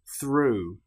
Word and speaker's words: through: In the next example, the sound disappears completely. Bow through. Thorough.